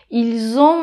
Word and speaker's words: ils ont: Donc par exemple, ils ont mangé. Exactement. Ils ont mangé. On dit pas ils l'ont mangé, ils ont. On prononce ce S qui, normalement, on le prononce pas il.